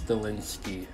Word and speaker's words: Stilinski: Bao I came for nothing his name wrong ro my god Michi suave Stiles stilinski there we go I finally got his name